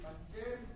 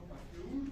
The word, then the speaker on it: Pasteur: Dice Pasteur, no Pasteur.